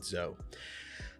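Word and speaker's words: Zou: of the group to head over to Zhao or Zhou, Z-O-U. I believe they pronounced it Zhou.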